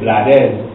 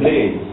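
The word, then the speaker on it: Blades: singer ex-minister of Tourism Reuben Ruben bladz but if you spell it out it is really Ruben Blaze so we we we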